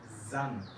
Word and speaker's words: sanft: De la S hay dos versiones, una S suave y si viene con doble S normalmente es más fuerte. Suave es, por ejemplo, sanft.